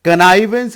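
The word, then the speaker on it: connivance: कनाइवेंस इसका pronunciation है, कनाइवेंस। कनाइवेंस को आप एक शब्द में 60 गांठ भी कह सकते हैं, अनदेखा करना भी कह सकते हैं।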